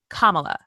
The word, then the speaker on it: Kamala: Okay, I keep saying her name wrong. Kamala. Emphasis on the beginning of the name.